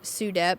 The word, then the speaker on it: SUDEP: But SUEDEP, I mentioned earlier, my oldest son passed away from SUDEP is how you say the abbreviation, but sudden unexpected death and epilepsy.